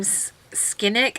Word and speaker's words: Scinic: So a while back on HauteLook, I had purchased this little duo from Scinic. I don't know if that's how you pronounce Scinic.